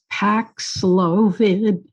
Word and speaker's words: Paxlovid: I have a question about, and I cannot pronounce this word, the drug. I believe it's Paxlovid.